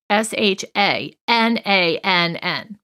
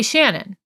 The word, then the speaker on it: Shanann: Shanann. Some people, it's such a unique name that they don't say it right. They'll say Shannon or Shannon or something like that.